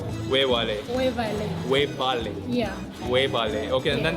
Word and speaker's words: webale: You can say wevale. Wewale. Wevale. Webale.